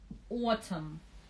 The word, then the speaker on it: autumn: Autumn, Н не произносится отм.